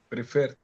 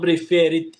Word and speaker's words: preferred: And can you pronounce preferred for me? Preferred. Preferred. Not prefer.